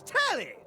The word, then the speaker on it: Telly: The name's Telly. Rhymes with Nelly. Like Smelly.